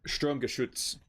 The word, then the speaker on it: Sturmgeschütz: Sturmgeschütz.